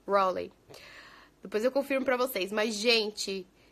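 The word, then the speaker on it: Raleigh: estava escrito no papel a lei é assim pronuncia é o roley rolê r a e g e h acho que é isso rolei confirmar a vocês mais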